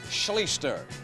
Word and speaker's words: Schlichter: Art Schlichter is how you pronounce his name.